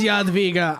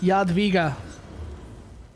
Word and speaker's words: Jadwiga: It is Jadwiga. I was right. I figured that was the pronunciation, but I wasn't sure. And I was on the no. I was on the money. Yeah, Jadwiga.